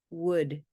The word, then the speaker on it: would: wood wooden hook wood would would yeah put it in the chat what does it look like this is another word that is a homonym that means it has one sound two written forms and two meanings